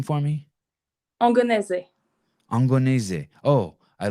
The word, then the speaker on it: Angonese: Angonese. Angonese. Oh, I like that. Angonese.